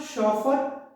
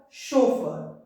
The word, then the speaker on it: chauffeur: It's not chauffeur, chauffeur.